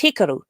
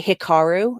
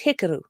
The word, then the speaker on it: Hikaru: educate all of you when in doubt put the emphasis on the first syllable because like it really especially with names it is respectful to learn how to properly pronounce someone's name and yet i see people slaughtering japanese names all the time so like there's a japanese name that's hikaru which people always say hikaru no that's not it it's hikaru but